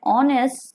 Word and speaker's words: honest: Look at the example: an hour, an honest servant, an honorable man. In these words you can see H is silent, so they also begin with vowel sound, and therefore we will put before these words an.